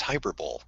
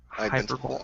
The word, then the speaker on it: hyperbole: Oh, so you mispronounced it. It's hyperbole. Hyperbole.